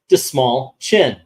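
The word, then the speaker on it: Dastmalchian: he goes oh you know the way to pronounce my name is Dave dis small chin the small chin and he did that over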